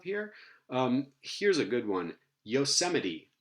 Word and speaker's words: Yosemite: This is pronounced Yosemite, and we said that the infix has to